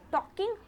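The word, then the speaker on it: talk: उससे बात करना अच्छा है, आनंददायक है, तो टॉकिंग हर होगा, ना कि टॉकिंग सी होगा। ये जिरंड क्या है? मेन वर्ब प्लस आईएनजी, तो TAL के, जिसको हम लोग टॉक बोलते हैं, एल साइलेंट होता है, आप लोगों को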